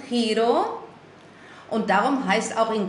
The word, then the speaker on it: giro: ist das selbe Wort dieses Giro es ist ausgesprochen Hiro und darum heißt auch